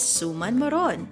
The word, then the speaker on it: suman: hi today's recipe is suman or rice rolls is a filipino native delicacy the stress is placed on the last syllable so we say yeah